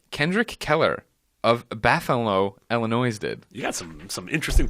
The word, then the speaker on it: Illinois: I am Kendrick Keller, an 18-year-old who lives in Illinois, and I have a weakness. You're saying the state's name wrong. It's Illinois. It's not Illinois.